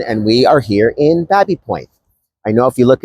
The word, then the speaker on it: Baby Point: Welcome back to our next Lunch and Learn, and we are here in Babby Point. I know if you look at the maps, it's spelt baby, but it is in fact pronounced Babby.